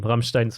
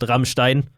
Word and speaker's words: Rammstein: so fucking much and just being like damn ramstein's fucking epic bro yeah yeah uh so that was a big one hamstein I still listen to them they're pretty epic by the way it's pronounced Ramstein not Ramstein please please guys okay and uh